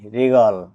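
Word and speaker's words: wriggle: ডাবলিউ করে আর আছে তাই ডাবলিউ লেটার ডি সাইলেন্ট থাকবে ডবলিউ আর I double G এলই রিগল মুসর দেওয়া বা আগড়ে ধরা এখানে ডবলিউ পরে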